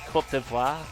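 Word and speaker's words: Côte d'Ivoire: Actually, it's pronounced Kotiva.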